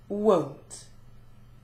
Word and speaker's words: won't: an O want and won't has the diff thong sound uh wo won't finally we've got the